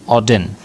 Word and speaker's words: Auden: डब्ल्यू एच की full form है Winston ह्यू ऑडिन।